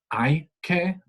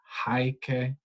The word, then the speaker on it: hay que: an infinitive verb, and it is hay que, not haike, just don't pronounce the H as always.